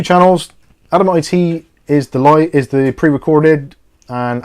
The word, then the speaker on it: Adamant: content, head over to Adamant IT 2, their channel. So that's spelled ADAMANT IT. So like Adam Ant IT, but it's Adamant.